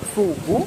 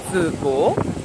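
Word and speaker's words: phở bò: pas pareil et donc le feu qui s'écrit faux donc c'est pas la peine de dire faux beau parce que les Vietnamiens vont pas comprendre c'est feu beau et donc beau c'est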